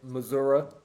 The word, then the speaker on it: Missouri: Missouri. Yeah. So a lot of people from there call it Missoura. They're like, oh, I'm from Missouri or Missou.